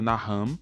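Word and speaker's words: נחם: A palavra usada nessas referências no Antigo Testamento, que no hebraico se pronuncia Naham, não quer dizer necessariamente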